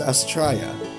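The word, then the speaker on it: Astraia: Astraea. Okay, so it's pronounced Astraea.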